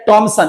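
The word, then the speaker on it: Thomson: है तो थॉमसन model, या टॉमसन, उच्चारण ट भी दे दिया तो टॉमसन मॉडल मतलब जे जे थॉमसन।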